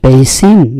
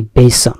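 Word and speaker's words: basin: বেসিন নাকি বেসন, এই যে আমরা বেসিন ব্যবহার করি, বেসিন বলে, আসলে উচ্চারণটা বেসন।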